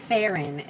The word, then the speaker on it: Faren: So this is going to be Faren, is how you say it.